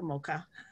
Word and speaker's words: Mocha: So it's Mocha Uzon, like the flavor, Mocha.